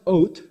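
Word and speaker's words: אות: symbol and a signal, and it's pronounced oat, but the Tav can be pronounced as either an S, a T, or a TH. It's where we get the word oath.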